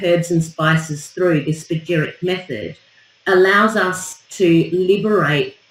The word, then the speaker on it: Spagyric: Spagyric. Yes. It's spelled Spagyric, Spagyric method.